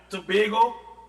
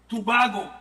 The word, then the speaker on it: Tobago: And I want to speak up in paternity to Trinidad and Tobago or in some cases now we say Tobago. So we have Tobago and we have Tobago. Whichever pronunciation you're affiliated with anywhere could listen to